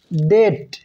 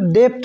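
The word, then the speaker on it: debt: না হয়ে প্লামার হয়েছে এছাড়া টি লেটারের আগে যদি বি থাকে তাহলেও ওই বি লেটারটি সাইলেন্ট থাকে যেমন ডেট এটার উচ্চারণ কিন্তু ডেপ্ট হয়নি ডেট হয়েছে ডাউট সাটল সাইলেন্ট লেটার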